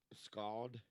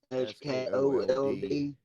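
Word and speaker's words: Sköld: How do you pronounce Tim's last name from Manson? Scald. Is that how you say that? Scully, Scully, SKLOD or something like that, Yeah, or S K O L D. SKOLD.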